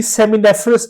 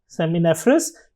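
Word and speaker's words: seminiferous: ये जो ट्यूब्यूल्स का नेटवर्क है इसको हम बेसिकली सेमिनेफ्रस ट्यूब्यूल्स कहते हैं। सेमिनेफ्रस या सेमिनेफेरस ट्यूब्यूल्स, दोनों तरह से प्रोनाउंसिएट किया जाता है।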